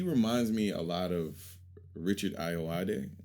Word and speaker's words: Richard Ayoade: I think that he reminds me a lot of Richard Ayoade. Yeah. You did it. I did. You said it right.